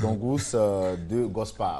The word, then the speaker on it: Doungous Degospae: En tout cas, on prend beaucoup de plaisir à échanger avec vous, hein, Dongus, voilà, Dongus de Gospa, voilà, je prononce bien maintenant, Dongus, qui veut dire, Dongus